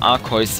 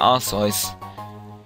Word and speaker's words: Arceus: Ich wollte gerade Arceus sagen, aber das wäre jetzt falsch ausgesprochen. Das Viech heißt ja Arceus. Wenn nicht, dann korrigiert mich.